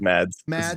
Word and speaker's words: Mads: How do you pronounce this guy's name? Mads.